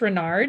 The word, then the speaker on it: Renard: to the jury yes my name is renard and that's spelled r-e-n-a-r-d what do you do for a